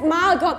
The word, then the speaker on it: Margot: Margot, sie heißt Margot mit einem T. Nee, also tatsächlich spricht man's Margot aus.